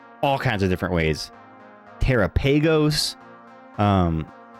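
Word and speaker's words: Terapagos: Terrapeagos. Um, but I think it's I think it's Teropagos cuz it kind of rhymes with uh Galopagos, like the Galopagos Islands.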